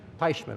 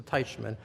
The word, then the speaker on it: Teichmann: don't wanna insult you how do you say your name paishman i'm sorry mr teichmann when i when i